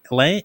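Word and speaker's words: Laing: is based on Scottish uh psychiatrist Rd Lang Lang l a i n g Lang yes who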